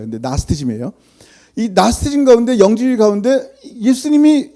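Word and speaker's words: Gnosticism: 내 이단 이단이라니까 내가 생각하는 그런 교리에 나스테즘 생각에 그니까 옛날에 우리는 그 신학 배울 때 그노시즘이라고 배웠어요. 쥐자가 묵음인데 그냥 쓴 거예요. 근데 나스티즘이에요.이 나스티즘 가운데 영주 가운데 예수님이 육체를 입으면 안 되는 거예요.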